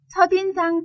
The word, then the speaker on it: 첫인상: 첫인상 발음에 주의하세요.